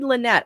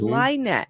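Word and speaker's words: Lynte: It is spelled L Y N T E. We tried Lynette. I always say Lynette, but I heard them correcting us saying, "No, it's Lette."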